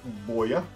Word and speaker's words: Boya: theirs, which is called, I hope I can pronounce it correctly, Boya, spelled BOYA, and which come complete with one receiver and two transmitters.